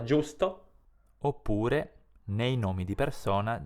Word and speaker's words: giusto: o nel nome Giovanni G iu si legge giù come nella parola giusto oppure nei nomi di